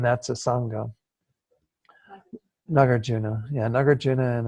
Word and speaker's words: Nagarjuna: me say that that in sanskrit it's for the emphasis is on the second syllable and then but when he say Nagarjuna like I said it almost starts sound they get from New York or something that God my